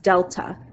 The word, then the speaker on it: delta: So my constant of variation, we're going to say, is something called, this symbol right here means change, and it's a Greek letter, and it's pronounced delta.